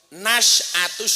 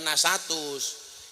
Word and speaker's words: Nasyatus: Nasyatus Suban, bukan nasatus.